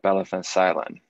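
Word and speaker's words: Belle van Zuylen: And it took me almost my entire sabbatical, but I believe the pronunciation is Bella van Zuylen, which literally means Lady of the Castle.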